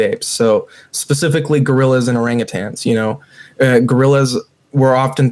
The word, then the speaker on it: orangutan: means you know and I'm very specific in pronouncing it because a you know people say orangutang and orangutang means a very poor person and orangutan means wise man of the woods so it's like again